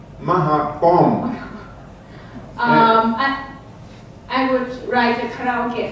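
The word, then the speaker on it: มะขามป้อม: The Thai fruit you were just talking about, how do you pronounce that in Thai? In Thai, ม ะ ข า ม ป ้ อ ม Mahapom.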